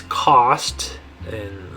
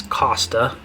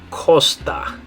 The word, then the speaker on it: costa: Now this one, some people might confuse this and think it means cost. And in English, the way you'd probably pronounce that is costa, right?